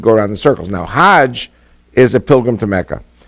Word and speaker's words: Hajj: around the circles now Hajj is a pilgrim to Mecca Haag is the Egyptian pronunciation hag in Hebrew means